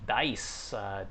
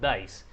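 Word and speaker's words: Deis: ursian it's actually named dice these days but it's spelled d-e-i-s so i'm pronouncing it as dice that's the name of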